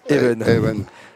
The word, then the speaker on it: Even: Son prénom s'écrit Even, mais il nous a bien précisé hein, on le dit Evenen.